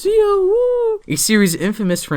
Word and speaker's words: Zi-O: So yeah, despite this movie being a G-O-V cinema, woo, you said Zi-O right, it's pronounced Zi-O, woo, a series infamous for not making too much sense in multiple aspects, this movie makes a lot of sense actually.